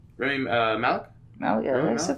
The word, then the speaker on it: Rami Malek: Remy Malky. Rami Malek. Malek, yeah, Rami that's Malek?